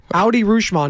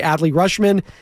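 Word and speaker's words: Adley Rutschman: say it right but every time it's not Audi rushman AKA adly rushman is the winner there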